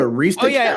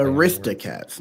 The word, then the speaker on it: Aristocats: And then it's Aristocrats, which is like the But Aristocats, not Arista.